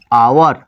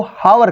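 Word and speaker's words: hour: लिखते हैं आवर आवर अधिकांश लोग इसको हावर कहते हैं अ हावर तो भाई अ हावर नहीं लगेगा क्योंकि एन आवर लगेगा क्योंकि इसका साउंड पहले का अच इसमें जो है साइलेंट है बबुआ साइलेंट है चुपचाप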